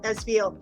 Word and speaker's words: Esveil: And we're here to talk about his book, The Sorcerers Inception: The Scrolls of Esveil.